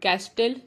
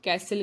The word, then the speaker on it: castle: हैसल, sorry कैसल, इसमें हम CASTLE, कैस्टल नहीं कहते, इसे हम कैसल कहते हैं।